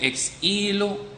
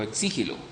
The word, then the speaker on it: ex nihilo: Algunos dicen ex nihilo o ex nihilo. Creo que ambas pronunciaciones están bien, ex nihilo.